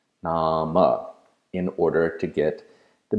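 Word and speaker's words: नाम: modern prose simply as Nam name you want to pronounce the inherent vowel at the end so you'll pronounce it namah namah in order to get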